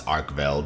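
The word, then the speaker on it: Arkveld: yesterday starting off with the flagship which is pronounced just how I thought it was arkel it's pretty straightforward and uh the next one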